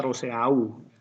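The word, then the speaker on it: Rousseau: kaya orang Jawa ya tulisannya rosea Uye bacanya Rosewood mereka beda kontrak sosial itu adalah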